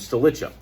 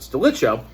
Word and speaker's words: Stilicho: Stilicho, or Stilicho, is probably the correct way to say it, Stilicho.